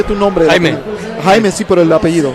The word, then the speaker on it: Jaime: This is Jamie. Jamie, ¿cómo se pronuncia tu nombre? Jaime.